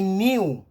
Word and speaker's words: knew: I knew, voilà, il y a un petit K qu'on ne prononce pas, I knew.